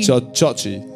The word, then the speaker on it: Jaji: Is it Jaji? Chachi. Chachi. In Fijian, the J is pronounced a Cha.